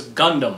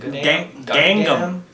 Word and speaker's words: Gangnam: No, they thought it was Gundam.